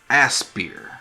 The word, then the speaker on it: Aspyr: So, the people who are behind this remake are Aspyr, I think is how you pronounce it, which is a Texas studio that